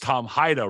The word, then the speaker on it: Hida: private lending Tom hida it's pronounced Tom hida right Tom that's right yeah so uh you know